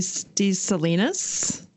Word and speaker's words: Salinas: How would you pronounce that? I always say Maria de Salinas.